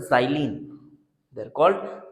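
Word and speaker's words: xylene: but actually में इनको बोला जाता है जाली कल साइलेंट बहुत ही इंपॉर्टेंट बहुत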